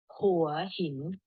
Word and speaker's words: Hua Hin: with the edge so who are him not why he we pronounce start with the edge so for him okay so yeah again